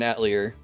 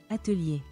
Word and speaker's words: Atelier: Atelier. Anyway, basically, if you want to be a snob about it, you basically don't pronounce the R and it becomes Atelier.